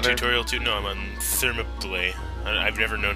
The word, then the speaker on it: Thermopylae: No, I'm on Thermopylae. I've never known how to pronounce that. Thermopylae.